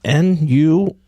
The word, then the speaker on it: Nuyorican: I can't even pronounce this word. It's Nuyorican.